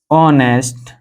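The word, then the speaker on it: honest: तो सबसे पहले हम इसका हिंदी उच्चारण करेंगे तो इसे ऑनेस्ट बोला जाता है, ऑनेस्ट।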